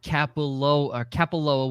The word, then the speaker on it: Kapalua: It said Kapalua, whatever you had pronunciated it as the slow version, and the fast version felt all together.